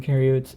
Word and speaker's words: eukaryotes: eukaryotes so u oops eu kind of rhymes with yes right so you yes it has that y sound you yes so here